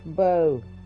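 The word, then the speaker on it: Beau: B-O, that's Bo. Or B-O-W. Because it's French. I think it's like French, so B-E-A-U is like how you say it, Bo.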